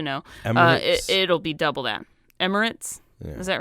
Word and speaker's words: Emirates: merit Ritz and merits I forget how to pronounce that I used to know it'll be double that Emirates is that right yeah yes interesting uber playing